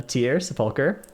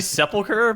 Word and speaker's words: Sepulcher: about nissent and uh the tears faulker or sepulcher or however you guys want to wrongly pronounce that word also um we have it's actually sepulcher but yeah good job